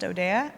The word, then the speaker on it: Odea: Of Odea, that's how it's pronounced, Odea, of Customer Journey Prediction Analytics.